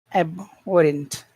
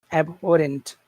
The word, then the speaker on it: abhorrent: And how about abhorrent? Where is the accented syllable in that word? is abhorent. Abhorent That's that's the with all of the sounds So it sounds like this.